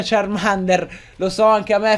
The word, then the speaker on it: Charmander: Perché sì purtroppo ragazzi bisogna accettare il fatto si pronuncia Charmander lo so Anche a